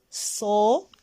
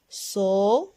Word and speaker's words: soleil: Soleil. C'est un nom masculin. Un soleil. Répétez. Bravo. Ça. Réveil. Réveil. Encore deux syllabes. Et le son ei dans la deuxième syllabe.